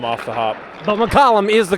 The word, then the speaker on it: McCallum: I would say most people go Macllum off the hop. McCllum is the correct pronunciation.